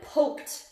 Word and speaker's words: poked: Sometimes it's hard to tell because they all have ED, but that's why it's how it sounds. Poked. Just like bonked, stepped, poked.